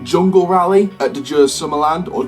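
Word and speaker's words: Djurs Sommerland: Sierra Force Zero, like Jungle Rally at the Jers Summerland, or Jers Summerland as it's pronounced, over in Europe.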